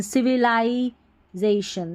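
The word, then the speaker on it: civilization: development in modern modern C वी ली नहीं पढ़ना है लाई सी वी तो ठीक है सीवी लाई जेड ए जेशन सिविलाइजेशन सिविलाइजेशन चलिए नेक्स्ट पैराग्राफ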